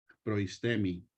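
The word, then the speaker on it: προΐστημι: los versículos donde sale esta palabra que se pronuncia proistemi, ¿verdad?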